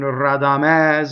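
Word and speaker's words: Radamès: The conjunction is a strong monosyllable, makes a double. Rradamɛs. The final E in Rradamɛs is open.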